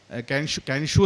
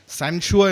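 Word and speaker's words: 残雪: എത്താം എന്ന് തെളിയിച്ച ഒരാളാണ് കാൻഷു എന്നല്ല അവരുടെ ഉച്ചാരണം സി എൻ ഇസഡ് യു ഇ സാൻഷുവ എന്നാണ് ചൈനീസ് ഭാഷയിൽ അവരുടെ ഉച്ചാരണം അതുകൊണ്ടുതന്നെ ശ്രീ സന്തോഷ് ചേച്ചിക്കാനത്തിന്റെ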